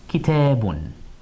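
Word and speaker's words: كتابٌ: Kitabun.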